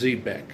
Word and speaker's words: Xebeck: of the guy was is zbec and it's spelled x e b e c k um just a minute